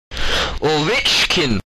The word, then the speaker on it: Ovechkin: Ovechkin! Gotta say it like that.